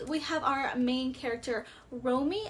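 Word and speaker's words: Romi: But we have our main character, Romy, I believe is how you say her name, R-O-M-I, Romy, and so she transforms into a magical girl, which is Princess Heart, because she is actually a princess.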